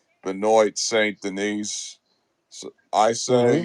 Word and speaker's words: Benoit Saint Denis: Benoit Saint Denis.